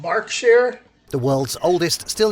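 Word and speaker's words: Berkshire: must visit destination so I've been saying it wrong this whole time Burk share it's called bark share the world's old oldest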